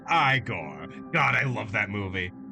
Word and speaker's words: Igor: I I I could I could relate to George in a in a lot of ways vampire Eigor. It's pronounced Igore.